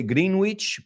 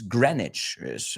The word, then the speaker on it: Greenwich: Some people here in Spain say Greenwich. It's not Greenwich. It's Greenwich. La pronunciación de la E es como si fuera una E en vez de dos. Y la W no se pronuncia.